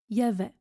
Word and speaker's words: il y avait: Ensuite, il y avait se prononce y avait.